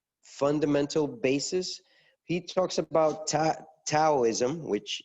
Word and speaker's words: Taoism: basis he talks about Taoism which you don't really pronounce the T that way it's it's pronounced as D but I have not